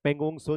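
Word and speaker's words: Pangong Tso: पेंगोंगसो झील। इसमें T silent होता है। पेंगोंगसो झील और सोकर झील।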